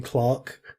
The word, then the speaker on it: clerk: say clerk, we mean Clark. None of you can't pronounce that right yet. It's Clark. Was it? Is it? Really? Clark? I thought. Yeah, British pronunciation is Clark, yeah.